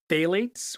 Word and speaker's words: phthalates: Phthalates, which is spelled phth a l a t-s, that is a large group of compounds used as liquid plasticizers.